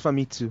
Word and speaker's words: Famitsu: I've always wondered how you pronounce that. I think it's Famitsu.